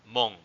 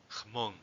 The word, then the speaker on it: Hmong: A lot of people pronounce it their ethnonym as Hmong, but in reality, it's pronounced something like Hmong, something like that.